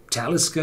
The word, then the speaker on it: Talisker: So, and one of the remains is the word Talisker, which pronounces on the first syllable.